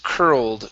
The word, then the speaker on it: curled: Uh, next up is curled. Curled up. Instead of curled, it's cur like her.